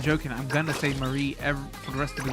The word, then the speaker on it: mari: Mari, not say Marie, like it's a girl's name.